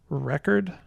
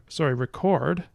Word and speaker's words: record: we can talk about a word like record, with the stress here, and record with the stress here on the second syllable.